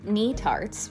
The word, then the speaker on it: Netarts: Our adorable Airbnb was located in Narts, which I now know is how it is pronounced, bay.